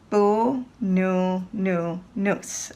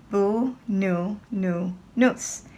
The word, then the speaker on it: Boonoonoonous: So let's try to pronounce it first. We'll do it slowly. Boonoonoonous. Okay? Try it again with me. Boonoonoonous.